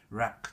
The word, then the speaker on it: RAK: Kindness の省略、RAK って書いて、ラックって読むんですけど